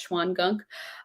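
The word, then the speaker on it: Shawangunk: the schwann gunk mountains it's weird it's pronounced it's spelled shao and gunk if you want to look it up but i think it's pronounced schwann gunk um has some sort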